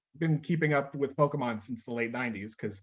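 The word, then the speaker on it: Pokémon: you say it properly it's you're saying it right it's pokemon it's just come on you don't you don't put too much uh oh no it's not emphasis on that okay yeah and it's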